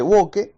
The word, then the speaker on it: woke: un término que desconocía no se escribe wokee se pronuncia woke y este es el